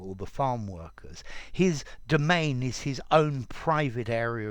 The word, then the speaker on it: demesne: there students domain domain notice the pronunciation domain there's no s okay a domain is